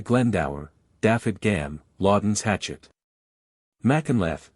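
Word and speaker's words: Machynlleth: daff gam Laden's Hatchet Mackle pronounced machun is one of the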